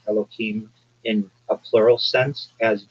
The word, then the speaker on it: Elohim: So the first term that you used, and I'm going to break up the word, it's Elo and then Him, which I will call Elohim.